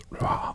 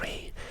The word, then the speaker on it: Ra: So for example, the sun sign, pronounced Ra or Re, is the first symbol in the hieroglyphic spelling of the pharaoh Ramesses.